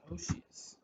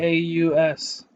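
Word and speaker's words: Oceaus: Yeah, dude, Oshius. Oshius? Oh yeah, yeah. Oseaus. I don't care if that's not how you pronounce it. That's how I pronounce it, and I'm the fucking All one who right, created.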